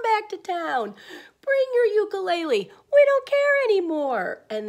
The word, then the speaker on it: ukulele: we actually are mispronouncing ukulele it should be pronounced ukulele did you know that Elvis Presley played the